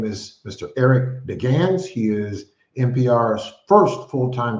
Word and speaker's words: Deggans: Joining me on the program tonight is Eric Deggans. Eric Deggans, welcome to the program, and thank you for coming on the program. Sure. Thanks for having me. It's pronounced Deggans, though.